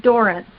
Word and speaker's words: Dorrance: and Halina you have some experience with the Durant family as well I hear and yes and we caught we see it's Doren okay we that's how we pronounce it in California and talk differently than